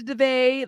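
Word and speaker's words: Daveigh: Her name is Devay.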